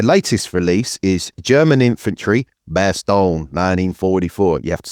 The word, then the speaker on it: Bastogne: Their latest release is German Infantry, Bastogne, 1944.